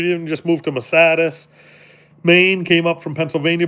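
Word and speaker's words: Masardis: Yeah, and make sure you say Massatis. That's how it's pronounced.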